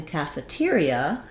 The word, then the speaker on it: cafeteria: like ca faye but those same letters in cafeteria don't say the same sounds because there we have stress on the tear syllable so there it sounds like it's still an a vowel so maybe a little secondary stress there kaffa now letter e says the ah sound stresses on tear my stress symbol is